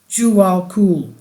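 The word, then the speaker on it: Djwal Khul: from the Tibetan master Jal kou pronounced jual Kul Bailey foretells the reappearance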